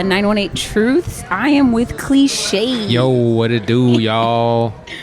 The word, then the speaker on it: Clixae: yo what it do y'all my name is cliche that's spelled c-l-i-x-a-e um I'm everywhere I'm literally everywhere